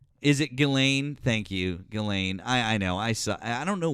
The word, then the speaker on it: Ghislaine: Thank you, Ghislaine.